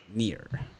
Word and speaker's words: Kneer: K is silent. Near. Fun.